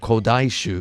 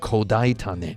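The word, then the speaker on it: 古代種: time as a 39-year-old, I repeatedly pronounced the Japanese word kodaishu as kodaitane. On the one hand, it is a made-up word, and my personal pronunciation of the final kanji is valid if less natural than the official rating.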